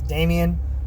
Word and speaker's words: Damian: Damian Wayne, which kind of sounds a lot like Damon Wayne, the comedian, but it's not. Promise. It's Damian Wayne, no S at the end, or a Z, however you want to spell it.